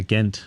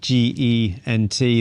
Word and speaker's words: Gent: i'd never heard a ghent no and it's spelt g-e-n-t the british have got an h in there so it makes you pronounce it as ghent not gent yeah yeah yeah so